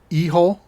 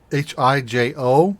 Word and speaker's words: Hijo: Then the last game is called El Hijo, Hijo. So it doesn't look like how it's pronounced. Or it does if you know Spanish, of which I don't.